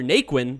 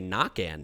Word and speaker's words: Naquin: that guy's absolutely hilarious and we got tyler naquin or as we should say nakan now because technically that's how it's actually pronounced but we got those guys coming at